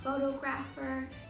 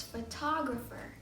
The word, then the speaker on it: photographer: the word photographer photographer photographer not photographer it's photographer the ph sounds like an f photographer photographer photographer i